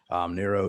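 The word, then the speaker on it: Nuro: Nero is a fully autonomous vehicle manufacturer. And Spell that, N-E-R-O, Nero?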